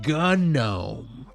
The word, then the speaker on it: GNOME: all the Linux nerds it's like gnome I'm going to call it gnome till the end of time it's actually it's pronounced gunome yeah you sound stupid